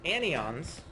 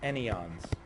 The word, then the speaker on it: anyons: exotic statistics, known as anyons, or maybe it's anyons, okay, because I think it comes from the word any, but people always seem to pronounce them anyons.